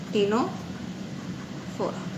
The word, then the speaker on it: टेनोफोरा: टेनोफोरा बेटा यहाँ पे सी साइलेंट है, TENOPHORA से प्रोनाउंसिएशन होगा, सी इज साइलेंट, तो टेनोफोरा.